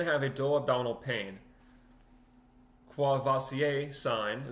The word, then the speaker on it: Courvoisier: Courvoisier sign, so that's how I would assume you pronounce it, Courvoisier, because it's French.